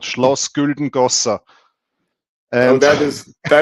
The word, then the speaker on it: Schloss Güldengossa: By the way, it's don't listen to International Stacker. He's not able to pronounce that correctly. Yeah, it's called Schloss Güldengossa.